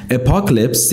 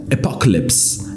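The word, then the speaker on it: apocalypse: اصلا دیکتشم یه جوریه اپکلپس یعنی آخر زمان جوکسم که به همون معنی جوک میمونه تو نیستا تم اینجا بریم راجع به کلمات با هم صحبت بکنیم اول تلفظ کلمه آخرالزمانه اپکلپس اپکلپس یه فیلمم فکر کنم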